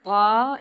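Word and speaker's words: باء: The articulation point of ba is also the lips, but for ba, you close the lips with some force.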